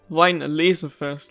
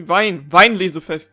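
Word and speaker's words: Weinlesefest: Also, kinda bugs me that they are like emphasizing on the wrong syllable, like the wrong word in this world. They're like Wine Laserfest, like the laser is just the most emphasized word, but it's actually Wein Laserfest, Digga. Gotta be German here.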